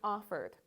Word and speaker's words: offered: So instead of what you might think it looks like called or cleaned or offered, but these words are actually pronounced called, cleaned, and offered.